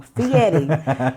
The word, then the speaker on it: Fieri: Fieri, even though there's an R. It's pronounced like Fieri, so the R is kind of silent.